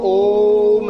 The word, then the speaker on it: ओम: लंबा गहरा श्वास भर के फिर ओम ऐसे बोला जाता है कि लगभग 15 सेकंड में ओ और लगभग 5 सेकंड में मैं का उच्चारण हो।